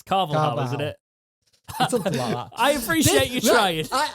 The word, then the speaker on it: Carvalhal: going to do it jake carvalhal it's carvalho i appreciate you trying